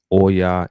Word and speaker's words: Oya: So tonight episode, we'll be learning more about the mysteries, the understanding, the spiritual, the divination of the Orishas, Oya and Oshun.